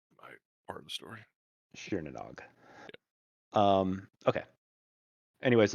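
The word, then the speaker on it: Tír na nÓg: TIR is pronounced sheer.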